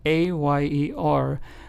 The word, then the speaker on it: ayer: Then we have the word ayer, spelled A-Y-E-R, which means yesterday in Spanish, is pronounced as ayer. Again, same sound as the two L's, right? Doble L. The Y, the Y, also has that Y sound.